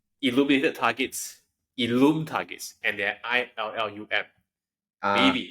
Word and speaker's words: illum.e: So Illum with the E is pronounced as Illum. Correct. And without the E, it's Illam. It's Illam.